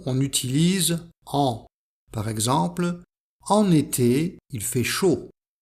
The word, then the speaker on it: en été: Par exemple, en été, il fait chaud, avec la liaison entre en et été.